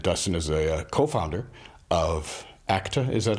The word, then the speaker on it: ACTA: Dustin moanin and Dustin is a co-founder of ACTA is that how it's pronounced yes ACTA correct and which is ACTA Winery how are